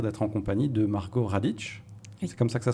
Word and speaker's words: Radic: j'ai le plaisir d'être en compagnie de margaot Radic c'est comme ça que ça se prononce oui Radic Radic et Eva Baptista bonjour Eva bonjour alors vous